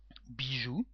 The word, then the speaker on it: bijou: So the word bijou, bijou with an X, the same pronunciation, caillou, chou, genou, hibou, joujou, and pou.